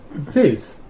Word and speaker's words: við: Oh, við. Við. So it actually rhymes with thith, which may or may not reduce your confusion.